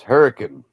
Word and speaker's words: Hurricane: It's spelled hurricane, right? You don't say it that way. It's hurricane.